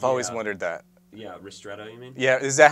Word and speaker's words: ristretto: Can you tell me the difference between Rosetto and an espresso shot? I've always Yeah. wondered that. Yeah, ristretto, you mean?